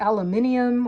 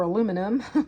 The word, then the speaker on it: aluminium: as well so my concern remains on the aluminium or aluminum dependent on how you pronounce it um it went up 74 parts